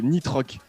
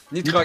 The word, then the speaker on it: Nitrox: Ah ouais, c'est Nitroc. Nitrox. Nitrox. Parfait. Alors si tu veux faire un petit peu plus américain, tu fais Nitrox.